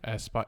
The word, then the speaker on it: Aspyr: Their track record it's from the developer Asper, who Asper, not Aspire, sorry. I don't know how you spell it. Aspyr. Aspire. Aspire. I guess would say Aspire. Yeah, I've heard people say Aspire.